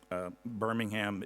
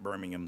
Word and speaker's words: Birmingham: city of Birmingham, Alabama. Birmingham is the way they pronounce it in Alabama, not Birmingham the way our British cousins would pronounce it, or maybe you guys would here.